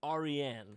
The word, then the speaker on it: Aryan: And it is a Persian name. It's pronounced Aryan.